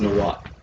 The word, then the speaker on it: Nahuatl: It's pronounced Nahuatl.